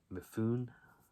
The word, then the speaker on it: Mifune: Next up is another Kino release from 1968, and that is Hell in the Pacific with Lee Marvin and Toshiro Mifune.